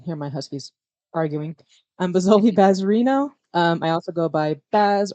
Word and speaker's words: Bazoli Bazerino: Is that how you pronounce the name? BAZOLI BAZERINO.